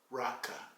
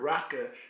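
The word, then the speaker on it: raca: It's comparable to an Aramaic term Jesus condemned in the Bible, raka. It's spelled R-A-C-A. Just like the N-word, raka is a derogatory term used to show contempt for a person.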